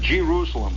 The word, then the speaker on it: Jerusalem: and you come whistling at Jerusalem by the way is the way it's pronounced out there you start coming into